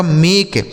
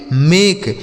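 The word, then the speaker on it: make: और के ई से क इसे पढ़ा जाएगा मेक एम ए के ई मेक बी ए एस ई इसे पढ़ा जाएगा बेस क्या पढ़ा जाएगा सर बेस ठीक है?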